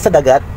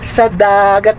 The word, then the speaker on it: sa dagat: Pero sa totoo lang, mapagdudugtong nila yung sa dagat. Ang bigas, sa dagat at bundok, mali po ang sa dagat. Dapat sa dagat at bundok, ganun ang bigkas. Sa dagat at bundok, sa dagat at bundok, may ibang tunog. Dapat sa dagat at bundok, kasi lang marinig mo yung dagat.